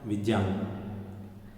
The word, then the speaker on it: विज्ञान: दक्षिण में ज्ञा बोलते हैं उसको, विज्ञान, विज्ञान, विज्ञान, तीनों में सही कौन सा है? विज्ञान।